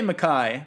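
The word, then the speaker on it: MacKaye: How do you pronounce it? I say Mackay, but that's the other thing.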